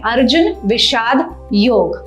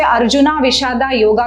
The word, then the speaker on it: अर्जुन विषाद योग: अध्याय का नाम है अर्जुन विषाद योग। आप गूगल पे जाएंगे तो इसका इंग्लिश स्पेलिंग है अर्जुना विषादा ए योगा। डजंट मीन कि हम उसे अर्जुना विषादा योगा कहें, इट्स अर्जुन विषाद योग।